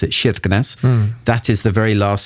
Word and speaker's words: Kirkenes: They say it is like Kirkenes is how it's spelled, but they pronounce it Kirkenes.